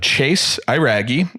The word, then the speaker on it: Chase Iraggi: Well, to kick off the episode, as we've already been sitting here chattering, we have Chase Iraggi, as it should be pronounced.